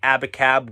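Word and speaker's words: Abacab: with the title track abbot cab which when you spell it out a b a c a b it's supposed to be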